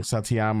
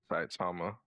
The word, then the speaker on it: Saitama: I forget his I say his name wrong. Satyama or some like that. Saitama.